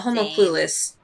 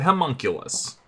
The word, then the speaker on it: homunculus: yeah so I was like I'm sorry the homo cluess no Vivian said homunculus if we can play those two against each